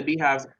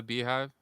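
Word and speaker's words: Beyhive: I know who Beyonce is, but I don't know anything about Beehive. That's their followership. That's what they call it, like the Bay. It's spelled like Beyonce, BEY hive, Ah, okay. the Beehive.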